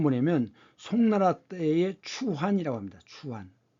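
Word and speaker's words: 蹴丸: 추환. 추이완, 중국 발음은 이제 추이완이라고 하는데 지금 여기 보시면 여자들이 귀족 여자겠죠?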